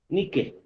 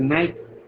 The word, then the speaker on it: Nike: Por ejemplo, yo quiero comprar, por decirles, ya, 100 zapatillas deportivas de la marca Nike, ¿no? Como se leería en español, pero se pronuncia Nike, ¿no? Ustedes saben bien.